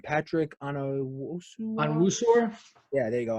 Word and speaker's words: Onwuasor: They lost, I don't know how to say his name, Patrick Onwuasor? Yeah, there you go, Onwuasor.